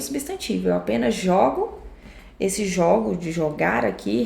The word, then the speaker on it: jogo: Esse apenas jogo o jogo, o som do primeiro é aberto e o som do segundo é fechado.